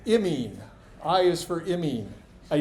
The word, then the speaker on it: imine: You have to be real precise with your pronunciation of amines and imines.